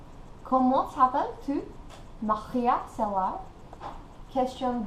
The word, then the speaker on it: Maria: So, for example, my name would not be pronounced Maria, as we know, or even Maria, as it is in Spanish, but in French it is a Maria.